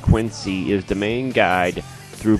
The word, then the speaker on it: QNC: of on a weird spot right now qnc pronounced quincy is the main guide through both the wii